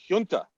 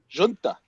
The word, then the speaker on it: Junta: Junta, which has no meaning in Nicaragua. Or what does he say? Junta, which was their buddy. Yeah. So hard J, soft U.